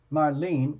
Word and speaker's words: Marlene: you tell me again is it like Marlena or is it like is it sorry is it like is it Marlene like two syllables like Marlene or is it like three syllables Marlena okay the reason I'm asking is probably I'm probably gonna end up saying your name a few times so case two syllables Marlene Marlene Marlene got it